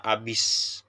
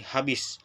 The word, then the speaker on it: habis: Nah, pada gambar poster Vicky Oke lagi, terjadi penghilangan dan penambahan fonem pada kata abis.